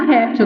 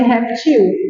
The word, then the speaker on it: réptil: correto é correto tá essa palavra tem as duas pronúncias ela pode ser paroxítona com acento porque ela é paroxítona terminada em L como ela pode ser oxítona ó ela pode ser reptil pode só que ela